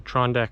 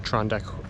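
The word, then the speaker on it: Tr'ondëk: question right um so uh trondeck is actually um uh where the the river named Klondike comes from Klondike is actually a kind of a mispronunciation of trondeck um and of course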